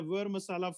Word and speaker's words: ver masala: different recipes for a vera masala for pandit cuisine and a ver masala for it's also called vadi masala but pronounced as were v-e-r some people call it